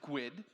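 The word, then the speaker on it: GUID: for example a globally unique identifier is a gwid um not to not not to be confused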